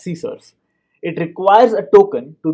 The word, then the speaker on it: CSRF: cross site request forgery csrf pronounced as c source it requires a token